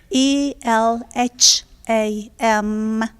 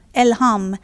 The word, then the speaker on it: Elham: And your name is spelled E-L-A-N? Elham. Elham.